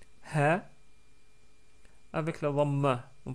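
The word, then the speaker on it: هَ: les différentes voyelles donc avec la fatha on prononce ha avec la damma on prononce hou avec la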